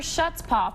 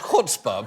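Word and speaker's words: chutzpah: lawmaker Jim leech says it is quote sheer shuts paaw for the daily fantasy sports sites to pretend the law makes them legal okay okay okay first of all shuta is actually pronounced cspa but but but but the idea the idea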